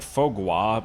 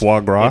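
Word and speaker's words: foie gras: It's like fog gua, but it's fagra. It's it's faux gr because it's not a grass type.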